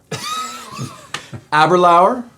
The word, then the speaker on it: Aberlour: happen it is all right let's get the pronunciation right aberlower absolutely correct good job we're we're probably going to butcher it as the thing goes on but we're going to understand aber lauer this is the batch three we should say